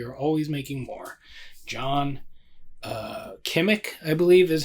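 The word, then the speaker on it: Kimmich: John Kimmick, I believe, is how it's CH, but I believe it's pronounced Kimmick.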